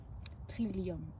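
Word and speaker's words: trillium: Ça s'écrit t r i l e la teint c'est lium trilium.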